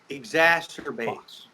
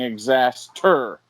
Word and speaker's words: exacerbate: No, you're throwing in an extra T. Oh my God. What am I saying? You're don't saying even know. exacerbate. Well, what You're is saying exaster. There's no ter. It's exacerbate.